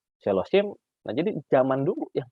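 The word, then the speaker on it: שלשים: Nah, ini bisa dibaca silsom, salisim, sheloshim.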